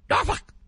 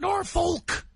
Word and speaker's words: Norfolk: It's pronounced Norfolk, not Norfolk.